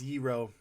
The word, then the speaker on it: gyro: a 300 lobster roll do you guys say gyro or euro i say you're pronounced hero yeah you got to get the in the back of the throat a little bit you know and is